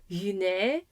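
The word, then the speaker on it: γυνή: Yune means woman, and it sounds like a y at the start.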